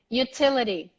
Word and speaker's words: utility: utility utility utility utility don't ignore the why the why is super pronounced and the you sounds like you utility utility utility utility utility